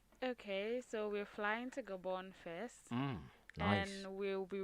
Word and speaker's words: Gabon: It's a Gabon news. It's Gabon newspaper, yeah, obviously. Gabon. The N is more of like silence. You say it like an Austral kind of way.